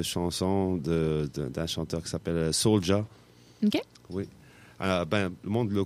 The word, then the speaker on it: Souldia: Parce que Soulja de la Rive-Sud, ça s'écrit S-O-U-L-D-I-A, Souldia. Mm-hmm. Mais bon, ça c'est toujours prononcé Soulja, sauf que lui, il s'appelle Soulja comme un soldat.